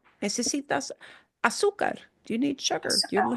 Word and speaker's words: azúcar: And you'll notice when you see a little accent mark, it doesn't mean you pronounce the letter differently. It just means it's needing to show you for one reason or another that that is the syllable you punch. Because it's breaking a rule, don't worry about the rule, okay? It just means, oh, I need to punch that sound harder than the other sounds.